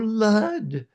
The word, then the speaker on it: Lud: Um, and Volimia says, "Oh, Lud." You know, that's an upper class pronunciation of oh lord.